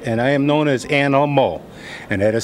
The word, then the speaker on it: Aminal: So just say Animal, and when you get a signature from me, you know it. I will spell it A-M-I-N-A-L. So don't worry about this Aminal. Just say Animal.